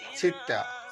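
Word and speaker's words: ستة: 6, আরবিতে উচ্চারণ হবে সিত্তা।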